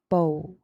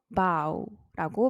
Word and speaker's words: bow: 5를 그냥 길게 발음하는 보우 그래서 5를 이렇게 길게 보라고 발음해 주시면 되고요 절하다라는 동사도 bow인데요 걔는 모부가 아니라 마오 소호를 얘기할 때 카오라고 하죠 그거랑 똑같은 아오 발음으로 바우라고 발음해 주시면 됩니다 그런 면에서 이런 면에서